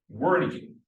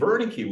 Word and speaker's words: Wernicke: Wernicke, or Wernicke, if you want to pronounce it in German.